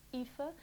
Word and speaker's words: Aoife: Na verdade, o nome dela escreve-se Aoife, mas pronuncia-se Aoife, segundo o que está aqui escrito e segundo vídeos que eu vi. Portanto, eu vou chamá-la o vídeo todo de Aoife, ok?